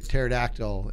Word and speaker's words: pterodactyl: can't you hear a pterodactyl in the bathroom because it has a silent P also I bought you